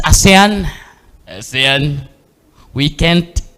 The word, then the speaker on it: ASEAN: it's percent which means by a 100 it's asan asan we can't stress stress this enough. It's always Asan or Aen, but it's never Asian.